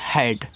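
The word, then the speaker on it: head: EHAD, तो इसको पढ़ते हैं हेड। तो इससे आपका हा, अब यहाँ पे ए का उच्चारण ए की मानता है के रूप में, क्योंकि दो कॉन्सोनेंट्स के बीच में ए हो तो ए का उच्चारण ए की मान। जैसे आपका सैड था, डैड था, तो हेड हो गया।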